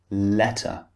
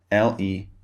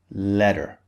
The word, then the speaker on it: letter: Water, or for example, letter, L-E-T-T-E-R. In American English, this would be letter, letter. In British English, the T is clearly pronounced. Letter, letter.